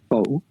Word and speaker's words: for: f-o-r4 right so occasionally like we pronounce that like foe but occasionally you pronounce